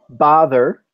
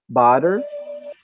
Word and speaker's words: bother: to spell it wrong again because you're not pronouncing it properly it's bother and you're you're saying it as if it's like two DS badr rather than father mother did you hear that